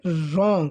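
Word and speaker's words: wrong: आर ओ एन जी इसके अंदर डब्लू का जो व है वह साइलेंट रहेगा हम सीधा ही इसको ऐसे रीड करेंगे रंग इसको क्या पढ़ेंगे रंग डब्लू आर ओ एन जी रंग जिस प्रकार लिखने के लिए स्पेलिंग होती है right W आर आई टी उसमें भी डब्लू साइलेंट रहता है इसमें भी साइलेंट रहेगा फिर सी यू आर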